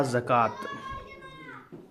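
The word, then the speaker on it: زكاة: और ये रहा ज़कात, ज़कात, हाँ, वाव साइलेंट है इसमें।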